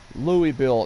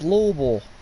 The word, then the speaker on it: Louisville: I was born in everybody says Louis Bill no it's Louisville yeah right car's a